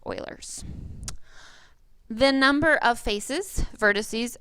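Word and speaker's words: Euler: to say ERS but his name is properly pronounced Oilers the number of faces vertices and edges of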